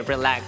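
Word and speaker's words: リラックス: So Japanese, pronounce the Japanese way, relax. That's relax. Relax.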